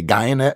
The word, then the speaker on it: Guyenet: for sure, Stefan Guyenet, he says pronounced like DNA. I would just say Guyenet because I'm American.